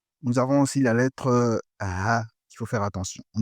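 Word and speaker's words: ح: Celle-là, la lettre Ha. Ha, il faut bien prononcer.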